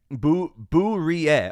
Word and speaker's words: Bourie: Bourie. Okay, I like that. That's how to pronounce my last name. It's French, I figured. Bourie. Okay, Bourie. Bourie. I got you. Roll that R and you'll say it properly.